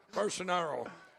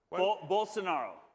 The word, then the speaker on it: Bolsonaro: Bolsonaro. Yeah. Bolsonaro.